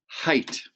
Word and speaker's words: height: And those G, that G and H are silent. They don't say a whole lot. So, it's pronounced height.